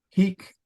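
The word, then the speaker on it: hīc: apple he these men Heek isn't by the way now to help you maybe keep it straight remember he with a long I is an adverb and it means here so if I were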